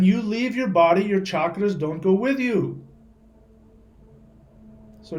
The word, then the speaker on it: chakras: Not chakras. It's pronounced chakras.